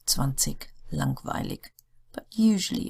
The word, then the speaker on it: langweilig: Words ending in IG are pronounced like the German word ich. So it almost sounds like as if they were spelled ICH, but it's not. It's IG. Billig, 20, langweilig.